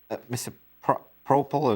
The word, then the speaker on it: misoprostol: But isn't that protocol being abused by pretty much all the practitioners who hand out these abortion pills, both mifepristone and misoprostol?